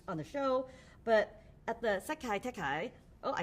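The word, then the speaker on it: Sekai Taikai: I know you guys came up with them on the show, but at the Sekai Tekai.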